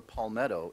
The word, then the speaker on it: palmetto: While driving along a Charleston street, Nora noticed that there was a palmetto in every front yard.